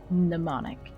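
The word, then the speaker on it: mnemonic: Same Greek root as the word pneummonic. The M is silent in a bag of form.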